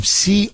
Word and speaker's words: Codevilla: In Angelo Codevilla, I believe is how you pronounce his last name, Codevilla. Angelo Codevilla, he wrote a book.